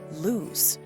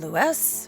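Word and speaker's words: Lewes: Lewis not his fault I pronounced it lse because all the names are so shortened here but not this one oh you mean Lou he said beamingly you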